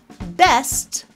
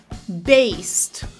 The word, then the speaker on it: best: so it's going to be best not Bast get not gate pen